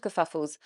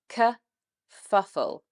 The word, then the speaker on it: kerfuffle: I'm afraid to say there are a lot of kerfuffles on the British railway system at the moment. So it's something that's quite common. Now, the pronunciation, it's kerfuffle, kerfuffle. Now, it starts with a schwa sound, k, and then moves